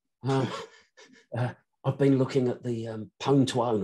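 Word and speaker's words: Pwn2Own: been looking at the pone to own and that is the correct way of pronouncing i don't care what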